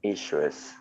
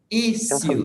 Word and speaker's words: issue: Yes, there is a double pronunciation. You can say issue, issue, or specifically British, issue. British English, issue.